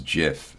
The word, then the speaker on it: GIF: know GIF animations or a lot of people call them gifs but the correct pronunciation actually is JF according to the creator of the uh uh of it um but uh you